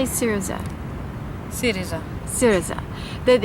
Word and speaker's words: Syriza: Syriza.